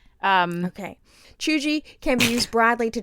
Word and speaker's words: cheugy: uncool it's not embarrassing or even always negative chuji pronounced and then they put c-h-e-u-g-e-e